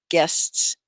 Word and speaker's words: guests: live stream guests yes guests you say the s on the end but it's not another syllable it's one sil guests guests okay so